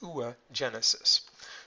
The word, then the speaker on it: oogenesis: Now, for women, the process is a little different, and I believe it's pronounced oogenesis.